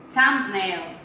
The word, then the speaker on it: thumbnail: Thumbnail. Thumbnail? Yeah, thumbnail. Thumbnail. Thumbnail. Yeah. So I have to add my thumb like thumbnail. Yeah, because how do you th what does th sound? Yeah. Thumb.